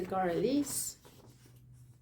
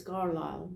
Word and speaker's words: Carlisle: pattern quickly which is the garlis the central shoulder one oh it's Carlisle sorry one of the viewers helped me to pronounce it she sent me